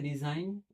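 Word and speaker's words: resign: जैसे देखिए तो एक होता है रिजाइन। एक होता है रिसाइन। स्पेलिंग एक जैसी है।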